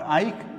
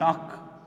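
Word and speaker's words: ܐܝܟ: Not Ike, but ak. See the difference in pronunciation. It is not Ike, but it is ak.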